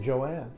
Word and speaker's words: Joan: Well, although it's spelled Joan. Okay. Joan. But she pronounced it Joanne.